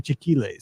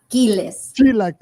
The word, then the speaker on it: chilaquiles: Because he calls them chiquiles. So you're probably saying it better. Chilaquiles.